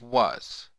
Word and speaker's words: was: This sequence should say was. But you and I know that it says was. It is non-phonetic. It is not pronounced the way that it's seen, nor is it spelled the way that it's spoken.